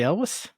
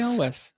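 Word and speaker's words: Elwes: thinking of um and i never know how to pronounce his uh his last name but uh carrie elvis oh carrie always okay hell is is also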